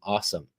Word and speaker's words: OSOM: And that's an acronym, AWESOME, OSOM, pronounced awesome.